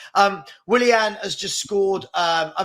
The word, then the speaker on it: Willian: Fulham one will villian V I don't know why V villian Like a Villain but but pronounced differently um Willian has just scored um